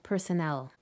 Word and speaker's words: personnel: syllable and so on the stress falls on the first syllable in hospital the second syllable in prescription and the third syllable in personnel the patterns are not